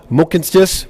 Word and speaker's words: Mohkinstsis: the traditional Blackfoot name of this place is pronounced Mohkinstsis, which we now call the city of Calgary.